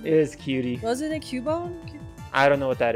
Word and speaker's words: Cubone: A Cubone. Everybody knows what I'm talking about. Well, everyone pronounces it wrong. It's pronounced Cubone. Cuban, like Cuban cigars. Like Mark Cuban.